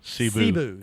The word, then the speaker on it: Cebu: Cebu.